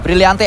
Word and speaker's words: Brillante: Ya kan Brillante bacanya? Ya, Brillante MBG.